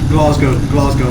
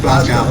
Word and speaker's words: Glasgow: Glasgow, not Glasgow. Okay, I can't pronounce it because I'm not Scottish.